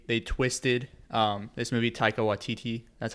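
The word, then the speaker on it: Taika Waititi: like how they they twisted um this movie taika watiti that's how you say it yeah he's the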